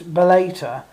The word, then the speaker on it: Bellator: on the fact that I call this Bellator um don't because I'm probably closer to the correct pronunciation than you are